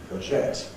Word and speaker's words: courgette: Courgette, on the second syllable.